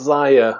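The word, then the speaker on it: Xia: Oh, I don't think I've played this, but I think it's is it Zia? Legends of a Drift System. It's actually pronounced Zaya, so I got it right.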